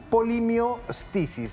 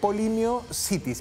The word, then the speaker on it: polimiositis: su enfermedad era la polimi Isis no eh polimiositis perdón polimiositis eh lo pronuncio bien polimiositis una enfermedad inflamatoria